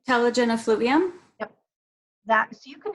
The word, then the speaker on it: telogen effluvium: Well, okay, so going back to the genetic, so you can have, I'm going to pronounce it wrong, how did you say it? Is it telelubium? Telogen effluvium?